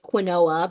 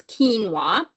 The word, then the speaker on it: quinoa: you also have quinoa so that's how we pronounce this word look like quinoa but it's quinoa and it comes in red white brown all